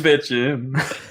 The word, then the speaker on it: bitchin': He's in the kitchen and he's bitching. It's time for the Kitchen Bitchin. Is it called this? I've just realised. Is it called Kitchen Bitchin because it rhymes?